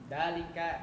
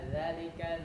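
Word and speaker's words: ذلك: Dalika, dalikuma, dalikum. Itu kan salah, harusnya zalika, dalikuma, dalikum.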